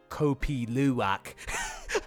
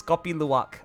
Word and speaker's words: Kopi Luwak: actually have tried copy Luwak so that's house pronounced that Kopi Luwak I was waiting for word like when I